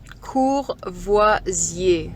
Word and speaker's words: Courvoisier: make a video so it's called Courvoisier cool voici a so you say cognac